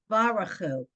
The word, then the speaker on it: Baruchu: It's Baruchu. So line 3, the first word, do we pronounce the Shava or we don't? We do. So that's a 3-syllable word on line 3, first word.